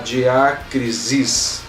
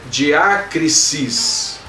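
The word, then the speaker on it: διάκρισις: Eu sei que nós acabamos querendo pronunciar diácrisis, mas é diácrisis. Som de S e não de Z no final.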